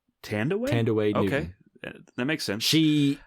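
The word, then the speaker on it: Thandiwe: Actually, it's from what I understand, is the proper pronunciation these days is Tandaway. Tandaway? Tandaway Newton.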